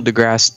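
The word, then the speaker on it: deGrasse: most likely character huh he butchered his name it's Neil degrass it's just Neil degrass Tyson well he's he's cool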